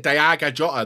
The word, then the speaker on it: Diogo Jota: He said Diogo Jota. That's how you say it in Portuguese.